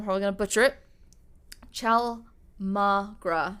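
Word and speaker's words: chaulmoogra: going to butcher it ciao magra so i believe it's pronounced ciao mangra oil which was a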